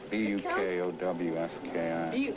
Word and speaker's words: Bukowski: B-U-K-O-W-S-K-I. B-U? Buke should rhyme with puke, yeah.